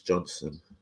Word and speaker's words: Johnson: My name is spelled Johnson, but it's pronounced just like you would pronounce Johnson.